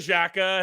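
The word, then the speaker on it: Xhekaj: Wi-Fi himself Arbor hey is that he pronounce it Jacka yeah Shaka oh yeah I'm not gonna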